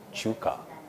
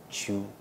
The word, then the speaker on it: Chuka: So now you've been listening to Chuka, because my name is Chuka. Just listen to the way I'm pronouncing it. Chuka.